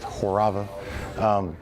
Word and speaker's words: Horava: Well, the name is Horava, pronounced Horava.